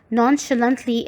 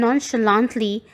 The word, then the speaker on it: nonchalantly: Class 8, again this word has two pronunciations. Nonchalantly is the British pronunciation and nonchalantly is the American pronunciation.